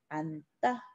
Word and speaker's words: 앉다: 얘는 니은을 선택하기 때문에 앉다. 이렇게 발음을 합니다. 니은 선택하고 받침 니은 때문에 뒤에 된 소리가 일어납니다.